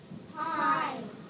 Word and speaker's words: pine: does it say now what does the I say when the E is at the end I I says its name right it says it